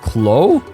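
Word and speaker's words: Kloe: it here no but the name Chloe that like for me it sounds like Chloe right but I was curious and I looked up a like the pronunciation article again where I think they've based it on how they say it in later games so it should be Canon and apparently they say just Khloe Khloe so much like Olivier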